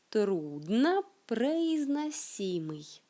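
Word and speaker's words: труднопроизносимый: En russe, c'est le mot трудно произносимый. Je le dis plus lentement. Трудно произносимый. Трудно произносимый. Un peu plus vite. Трудно произносимый. Et maintenant, comment dirait un natif de la langue russe?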